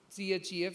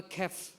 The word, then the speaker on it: chef: Some of the things are not pronounced. So you write c-h-e-f, you say ‘chef’. But you, the people will say is ‘chef’, or ‘khef’, because they, they have also listened ‘character’.